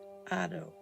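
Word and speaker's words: 音: character that the Japanese used to write sound pronounced Otto this character is actually formed of two simple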